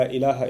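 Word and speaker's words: إله: When somebody converts to Islam or accepts Islam, then they say this phrase, this Arabic phrase, la ilaha illallah, in which there's the term ilah.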